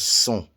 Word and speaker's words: sont: And the T is silent. It's like sont. It looks like it should be saying sont. But no, that's not the way it's pronounced. It's sont.